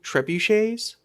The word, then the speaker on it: trebuchets: they started setting up I always mispronounced this, but we're going to try it correctly. Trebuchets.